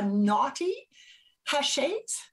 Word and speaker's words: Knotty Haches: now right and the business name is the naughty ha shades yes correct i said it right yep perfect